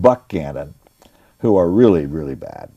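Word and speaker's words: Buchanan: there at the right time follows pierce and buckham it's pronounced buck cannon who are really really bad they don't know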